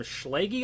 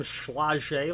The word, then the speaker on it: Schlage: I need one of them Schlage locks. You know, I need one of them Schlegel locks. And I don't know how to pronounce it, but I've always heard it pronounced Schleg.